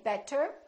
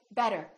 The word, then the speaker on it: better: D so for example when we say the word better we have a vowel T and another vowel this T changes and it becomes this fast D sound so we don't say better we say better better so it's not a really strong D it's not better it's a real quick better better look again we don't